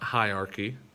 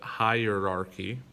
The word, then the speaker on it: hierarchy: heinous then we have hierarchy not hierarchy but hierarchy right we've got that er in there hierarchy and then we have